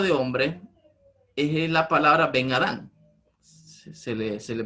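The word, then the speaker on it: בֶּן אָדָם: La palabra hebrea hijo de hombre es la palabra Ben Adán. Se le pronuncia en hebreo Ben Adán.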